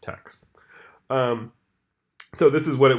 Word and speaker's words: TEKS: teks and those process teks I realize now that I've said both text and teks I prefer the text pronunciation just a fun fact about me I think it's pronounced text so this is what